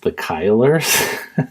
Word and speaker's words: The Killers: It was actually pronounced The Kylers.